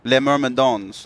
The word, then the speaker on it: Les Mermadins: The S is silent. Les Mermadins.